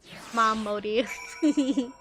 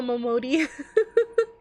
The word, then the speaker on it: Momodi: Mom Modi. It's Mama Momodi.